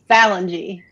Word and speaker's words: Ballengee: Is it Ballengee? Close, kind of close. It's Ballengee. Ballengee.